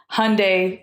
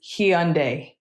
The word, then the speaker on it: Hyundai: So they always tell us, just say Hyundai like Sunday. So that's what we say. But I think technically the correct pronunciation is Hyundai.